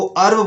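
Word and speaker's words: herb: इसको हर्ब नहीं बोलना है, इसको अर्ब बोलना है, जो कि बहुत कम लोग बोलते हैं।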